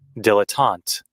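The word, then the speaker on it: dilettante: Hold on, let me see how to pronounce this. Dilotant.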